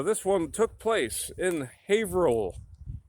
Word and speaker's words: Haverhill: one took place in haverhill haverhill havrell they pronounce it different ways up here never pronounce the way it's spelled with new england towns and cities so